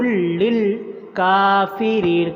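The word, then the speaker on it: للكافرين: نہیں پڑھنا اس کو۔ عدو للکافرین، کاف کو لمبا کرنا، کاف کے اوپر کھڑی زبر ہے اور را کے نیچے زیر آگے یا آ رہی ہے تو را کو بھی لمبا کرنا ہے۔ وَلَقَدْ أَنزَلْنَا، انزلنا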